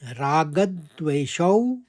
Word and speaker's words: रागद्वेषौ: दूसरे चरण में देखिए, रागद्वेषौ और व्यवस्थितौ। रागद में हमने आघात लेते रागद कहा, फिर द्वेषौ, देवशौ के संग मैंने व का आघात लिया क्योंकि आगे वाला शब्द व्यवस्थितौ है।